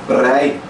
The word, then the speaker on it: prei: P é P. R é R. Então depois vem o ditongo E. Então prei. Tá vendo? P. Devido ao P, o P é um pouco soprado. Prei. Aí devido ao R, vira uma tremidinha na boca. Prei. Prei. Minha língua, ela treme.